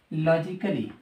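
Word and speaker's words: logically: से पहले ठीक है बेटे अगर डब् एल वा से पहले ए आ जाए तो ए क्या हो जाता है साइलेंट साइलेंट जैसे लॉजिकली म्यूजिकली अब मुझे यह बताओ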